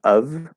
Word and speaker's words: of: uh of of and with a v sound it's spelled with an f but it's one of the rare cases where it's actually spelled with an intensive v sound um that's the full pronunciation of the word very commonly we will drop that consonant sound that v sound this f spelling and just say it with a schwa okay now that's what's